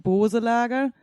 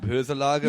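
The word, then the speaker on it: Boeselager: Do you think like the E is actually a Dehnungs-E, so it's like Boselager? So you don't pronounce the E. Not Böselager.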